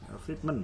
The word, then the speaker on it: Friedman: macam penelitian hukum lagi-lagi menggunakan teorinya Friedman ya, Friedman ya bacanya, Lawrence M.